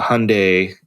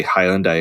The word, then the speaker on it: Hyundai: seeing the uh the hyundai see i said it right i don't say highland dye anymore after i've been correct